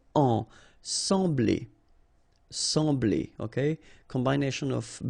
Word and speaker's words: sembler: So EM will give you the sound en, okay? So you don't pronounce the M, you just get the sound en. Sembler, sembler, okay?